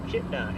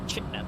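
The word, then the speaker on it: Chitina: Chitna, as the locals say. Chitna, thank you.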